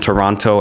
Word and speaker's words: Toronto: to my hometown Toronto which is pronounced Trento for people in Toronto and Toronto elsewhere Boston New York Austin